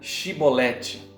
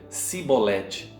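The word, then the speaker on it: Chibolete: Se respondesse que não, os homens de Gileade lhe diziam: então diga Shibolete. E eles diziam Sibolete. Não podiam pronunciar corretamente, queridos, a palavra. Eles o agarravam e matavam no vales do Jordão.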